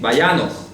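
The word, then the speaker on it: וַיָּנַח: Así, Vayanoch. Bueno, Vayanoch se pronuncia. Vayanoch.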